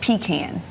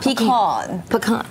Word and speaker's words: pecan: love this one where is it uh it's pronounced pecan it's it's over there absolutely pecan not pean pean pean really celebrating everything that's special about